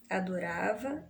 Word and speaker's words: adorava: Adorava, você tem a acentuação, né, a tonicidade recaída na penúltima sílaba.